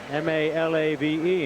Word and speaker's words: Malave: just about to ask you siron how to pronounce that name m a l a v e and you helped me out Malave from the